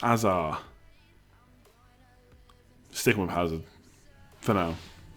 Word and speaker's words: Hazard: Hazard should be pronounced Azar.